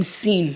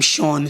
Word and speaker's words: Sean: I love the name Sean I feel like also it's a name that might get Mis pronounced people who don't know be calling him sinen you people know how